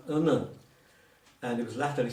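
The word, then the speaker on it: onen: the word for one is, if you spell it O-N-E-N, it's all right, but that's pronounced unnen.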